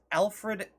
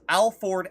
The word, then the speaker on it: Alfred: His name is Alfred Ashford, and he says Alford Ashford.